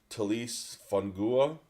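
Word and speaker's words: Taliese Fuaga: I gave him offensive tackle from Oregon State, Talise Fungua.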